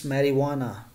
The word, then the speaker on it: marijuana: ng marijuana marijuana okay not married wanna it's marijuana next is dengue fever right dengue fever discretion